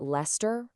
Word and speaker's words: Leominster: It just completely vanishes. It's a classic case of the letters just being there for decoration. So, why in the world is it Lester? Well, it's pretty simple, actually. The pronunciation came directly from its namesake city in England, where they also dropped the ice. The colonist just brought the name and its quirky sound right over with them.